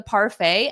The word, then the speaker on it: parfait: a French word Stefania it is a French word we just borrow it from the French and we use it but we still pronounce it more like the French sound